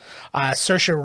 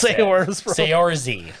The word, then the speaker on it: Saoirse: Saoirse Ronan was also in the running for that. Is that how you pronounce that?